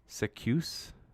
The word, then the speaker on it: Zacuse: Literally the letter Z in the word goose, but a C instead of G. So I guess it must be Zacuse.